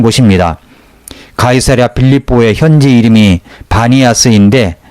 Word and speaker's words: 바니아스: 가이사랴 빌립보의 현지 이름이 바니아스인데 판신의 피 발음을 못하는 아랍인들이 비로 잘못 발음하여 불려지게 된 것이라고 말합니다.